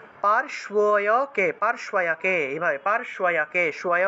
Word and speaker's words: पार्श्वयके: তারপরে দেখুন নেত্রয়োঃ, নেত্রয়োঃ চিত্রনেত্রা চ, নেত্রয়োঃ চিত্রনেত্রা চ यम घंटातु पार्श्वयके, पार्श्वयके, पार्श्वयके, এইভাবে পার্শ্বয়কে শয় উচ্চারণ হবে, यम यम यम घंटातु पार्श्वयके, यमो